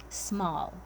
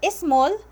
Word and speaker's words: small: Again, do not put an extra syllable before words that starts with S. Example, small. It is not small. Okay, this is not actually the way you pronounce it. Small, it's not small, it is small.